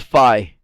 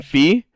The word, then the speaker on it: Fi: sure that this is fi I pronounce her name fee but I'm sure it's fi and the reason why